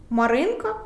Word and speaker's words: Маринка: ж не кажемо Руслан Юра де-юре Маринка соломинка Як бачите ми Стараємося